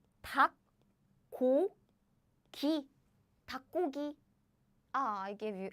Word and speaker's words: 닭고기: Like 닭고기.